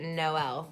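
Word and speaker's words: Jkmno: was spelled J-K-M-N-O, and you pronounced it Noel because there was no L in the name.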